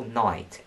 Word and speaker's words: knight: would prefer to spell knight n-i-t-e because it's just shorter than n-i-g-h-t knight n-i-t-e is phonetically correct because you know that is how it's pronounced we've also seen the